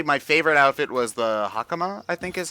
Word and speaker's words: hakama: But I think actually my favorite outfit was the hakama, I think is how it's pronounced. Yeah. Yeah, hakama. Yeah, that's how it would. You'd probably enunciate the A part more if you were actually speaking Japanese, but Sakamoto-san.